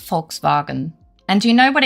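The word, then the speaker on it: Volkswagen: Well, that's the funny thing because it is pronounced folks bargain and do you know what it's actually translates to?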